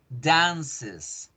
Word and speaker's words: dances: Entonces, ahí yo digo, I dance, she dances, she dances. Y la pronunciación debe hacerse con Z, dances, she dances, dances.